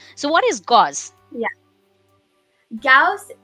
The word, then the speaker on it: Gauss: in your school waterloo gauze math contest so what is gauze yeah gauss it's pronounced cows okay i'm sorry it